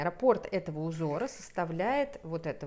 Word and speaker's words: раппорт: Раппорт, как вы меня учили всегда ставить ударение, раппорт этого узора составляет вот эта вот часть 28 сантиметров.